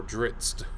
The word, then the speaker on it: Drizzt: Say you're familiar with Bob Salvatore's novels, following Drizzt Do'Urden, or Drizzt, as some people pronounce it.